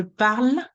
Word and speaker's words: parle: So let's say the very last sound I should hear, it's the L sound. Je parle, le, that's the le.